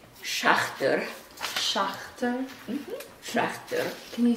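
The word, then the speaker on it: Szachter: It's pronounced Schachter.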